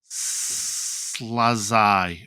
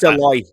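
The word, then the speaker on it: Szalai: One which was Attila Slazai or something like that, right? Saloy, I think it's pronounced, but yeah, Saloy.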